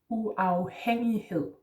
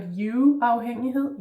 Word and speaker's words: uafhængighed: So, next word is uafhængighed. Starting with u, and remember this is not an English U, it's not uafhængighed, yeah, it's u.